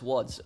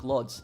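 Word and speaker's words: Łódź: Why is uh woods uh uh pronounced woods? You're you're saying like luds. Well, um it's because in the Polish language, the L is typically pronounced with like a W. That's what it is. Like the L with like a little like line for the middle.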